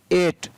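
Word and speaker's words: eight: आई जी एस टी एट, ठीक है ना। ई का उच्चारण यहाँ पर ए हुआ इसलिए इसको एट।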